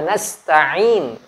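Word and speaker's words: نستعين: apa ini salahkan ia karena budu wa iyyaka nasta'in harus harus jelas karena Anda atau kita Jangan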